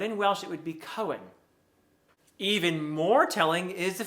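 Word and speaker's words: Cywen: it would be pronounced cohen in welsh for the hard c not cywin as i'm sure probably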